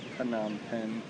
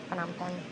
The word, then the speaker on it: Phnom Penh: It looks like Phnom Penh, but I guess it's pronounced Phnom Penh. Phnom Penh.